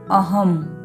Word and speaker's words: अहम: यानी अनुस्वार लगा तो हम यहां पर इसका उच्चारण करेंगे अहम इसी तरह शिवम एवं परम नियम चौथा अंग्रेजी